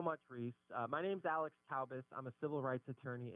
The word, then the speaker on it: Taubes: All right, we're back, folks, and on the line with us, as promised, attorney Alex Taubes. Is it? Why do I want to say Taubes, but it's Taubes? Am I pronouncing it correctly, Alex?